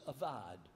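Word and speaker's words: עבד: And that word is avad, or some say evade. But people that will tell you how to pronounce the word couldn't come to any agreement. So it's A-V-A-D, evad, we'll say.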